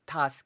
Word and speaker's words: Tusk: correctly pronounce Donald Tusk usually people say Tusk for some reason as in like I don't know uh an an elephant tusk or something I guess